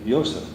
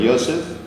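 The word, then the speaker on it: יוסף: what you have here this this is the Yosef yes exactly as any keeper speaking person with pronounce a community certain Yosef the blossom source the bloom across some abuses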